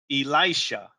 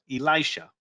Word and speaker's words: Elisha: I mispronounced it. It's Elisha. Elisha. E-E-L-I-E-Sha. Elisha.